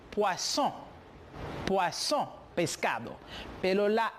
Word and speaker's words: poisson: Le double S, la doble S, se pronuncia como si fuera una S en espagnol. Por lo tanto, je dis poisson.